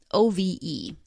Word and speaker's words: Ove: Ove is how the narrator of the book, the audiobook, pronounces it, and it's also how the actors in the Swedish language film pronounce it. Ove. O-V-E. So I'm going to go with Ove.